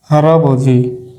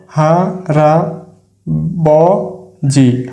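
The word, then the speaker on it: 할아버지: দেশ আমরা আরেকটি শব্দ গঠন করে দেখি হারাবজি আমরা আরেকটি শব্দ গঠন করি হা রা বি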